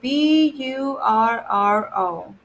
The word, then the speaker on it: burro: Burro. See how it's like a little exaggerated, the R sound, because there's a double R.